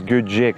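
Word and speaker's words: Göcek: Еще раз, Гёчек, да, так правильнее все-таки будет по-турецки. Ну или как-то Гёчек более-менее привычно, что ли, нам с вами.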